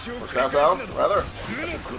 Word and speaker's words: Cao Cao: I didn't realize I was allied with Cao Cao, or Cao Cao, rather. I think you pronounce that right.